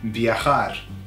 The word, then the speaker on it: viajar: So you can imagine I'm going to travel via car, viajar, okay? By way of car, viajar. Viajar is how you pronounce it. It's got that strong J, okay?